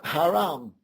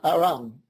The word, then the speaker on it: Haram: But is it a coincidence that the pyramid, word for pyramid in Arabic is pronounced Haram, spelled H-A-R-A-M, and they drop the H, so it normally sounds like Aram.